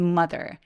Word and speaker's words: mother: living with his mother. mother 발음할 때 mother 길게 발음하지 않고 mother라고 뚜렷하고 빠르게 쭉 뻗어나가게 소리내 주세요.